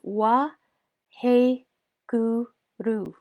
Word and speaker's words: Waheguru: Now, our mantra is Wa He Guru. It's Waheguru, 2 words, but we're going to break it down into 4 syllables.